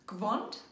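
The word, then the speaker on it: Gwand: The words we will look at now are: the box - pronounced "Kostn"; the robe - pronounced "gwond"; the dung bucket - pronounced "dung bucket/dung bucket"; this year; the bag and the roll.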